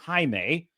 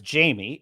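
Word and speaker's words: Jaime: this in other words if she were reading the word Hae she might mispronounce it because in English the J makes a j j sound phonetically in English J makes a j sound why do English-speaking people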